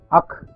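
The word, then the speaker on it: ஃ: This is called akh, and this is something like the pronunciation of akh. This is pronounced as akh, and it is a triangle of three small circles.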